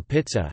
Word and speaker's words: pizza: Russian salad, potatoes, carrots, peas and mayonnaise, pizza, locally pronounced pizza or pizza, has been wholly included